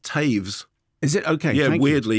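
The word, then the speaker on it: Toews: and language I'd like to suggest that Miriam toes I think that is the novel it's actually pronounced Taves is it okay yeah weirdly yeah Miriam Taves the novelist and Sarah Polly the screenwriter have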